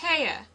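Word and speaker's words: Haigha: happy his name is Haya he pronounced it so as to rhyme with mayor I love my love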